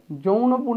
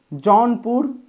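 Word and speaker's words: Jaunpur: জনপুর যৌনপুর না কিন্তু জনপুর উচ্চারণটা জনপুর কিন্তু খুব ফেমাস সিটি।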